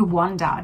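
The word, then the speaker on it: Wander: introduce you to is called wanda w-a-n-d-e-r i used to think it was called one dies in w-o-n-d-e-r so i i'm spelling it now because i have been saying it wrong for quite some time but uh that's kind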